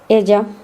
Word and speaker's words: ella: The letter ya, the double L sound in Spanish is pronounced the same as Y in Spanish. Ella, talla.